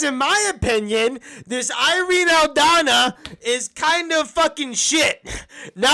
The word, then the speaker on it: Aldana: the meat and potatoes Amanda Nunes versus Irene aldana I pronounced it right that time that's the current